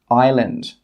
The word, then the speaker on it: island: The letter S can be silent when it comes before the letter L. For example, island.